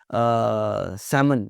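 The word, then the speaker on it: salmon: सैमन, सैमन, शुल्ड नहीं होता, शुड होता है, वुल्ड नहीं होता, वुड होता है।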